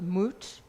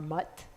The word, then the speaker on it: Mut: his wife or consort moot or mutt it depends on how you pronounce it and their son kantsu